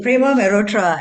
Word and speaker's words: Prema Mehrotra: Am I pronouncing your name right? Absolutely, Prema Mehrotra, and it is entirely my pleasure to be here with you, with all of you.